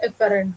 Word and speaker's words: efferent: Now both could be pronounced as efferent only, but I always remember and pronounce it as afferent and efferent, so that idea comes